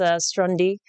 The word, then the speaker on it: Stronde: but I like it on demand it is pronounced strandi because of that acronym element but we do